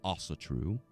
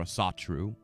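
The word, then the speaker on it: Ásatrú: you're familiar with this some may pronounce it also true or a saw true it doesn't matter but um the tru what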